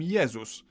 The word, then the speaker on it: Jezus: In Polish, we call him Jezus, but if we were to pronounce his name the English way, we'd write it down as Jesus.